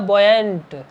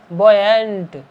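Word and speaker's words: buoyant: बॉयंट with, उच्चारण ऐसे करेंगे इसका, यू साइलेंट रहेगा, बॉयंट, बॉयंट, बॉयंट with thoughts, उथल पुथल,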